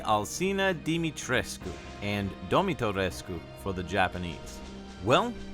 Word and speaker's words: Alcina Dimitrescu: this one to bed the proper way to say miss mommy crush me's name is lady alcina dimitrescu and for the japanese